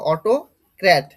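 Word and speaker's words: autocrat: প্রথমে এখানে চলে আসি দেখো অটোক্র্যাট অটোক্র্যাট অটোক্র্যাট প্রনান্সিয়েশন এটা হবে অটোক্ট কোথা অর্থ কোথা থেকে আসছে?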